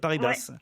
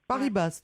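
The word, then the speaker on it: Paribas: Et ben voilà, les collègues de la BNP Paris-Basse. Ouais, c'est ça. Ah ben ils vont être contents. Paris-Basse donc. J'ai dit quoi? On prononce le S. Paris-Basse. Bah oui, j'en prononce le S, non? Paris-Basse? Non.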